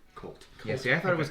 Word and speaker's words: Chult: up any information online a lot of people pronounce it chult which is stupid it says in the book Colt see I thought it